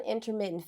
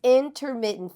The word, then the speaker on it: intermittent: Like, what is first of all, how do you say it correctly? All right. And then what is that? All right, it's intermittent fasting. Intermittent. Yep.